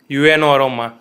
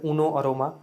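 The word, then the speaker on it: Uno Aroma: बोलते हैं यूनो अरोमा, यूएनओ अरोमा, तो ओरिजिनल नेम क्या है और इसके पीछे का रीज़न क्या है? सो बेसिकली इसको प्रोनाउंस करते हैं एज ए उनो अरोमा, नॉट यूएनओ अरोमा and like that.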